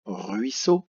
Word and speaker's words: ruisseau: Ruisseau, 2 syllabes. Rui, R-U-I, so. 2 S, la consonne S est doublée parce qu'elle est entre le I et le E. Donc on est obligé de la doubler pour que ça fasse ce. Et ce mot termine par le O qui s'écrit en 3 lettres, E-A-U.